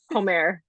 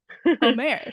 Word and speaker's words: Homère: Homère. Homère.